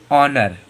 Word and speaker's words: honour: एच के बाद में ओ, एच के बाद में ओ, जैसे कि देखो HONOUR। अब एच के बाद में ओ आ गया है तो एच हम लोगों का साइलेंट है, तो इसे क्या पढ़ेंगे? ऑनर। ऑनर।